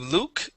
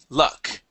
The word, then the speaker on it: luck: the word luck okay instead of Luke it is L luck luck all right excellent let's